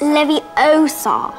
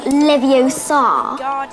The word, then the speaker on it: Leviosa: you're saying it wrong it's leviosa not leviosa leviosa oh well